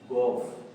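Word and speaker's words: golf: लेकिन डअ स्टूडेंट इसे हम गोल्फ नहीं बल्कि में जी ओ एल एफ एल को नहीं पढ़ेंगे सिर्फ एफ पढ़ेंगे तो ये बन जाएगा गोफ गोफ गोल्फ नहीं गोफ गोफ जो है वो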